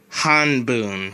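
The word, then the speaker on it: 半分: be neat bundle ichi however you usually don't pronounce this fraction like that you usually pronounce it like this hun boom which means one half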